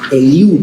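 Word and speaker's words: Eliú: el el el el elu elu con acento en la u elu ahorita vamos a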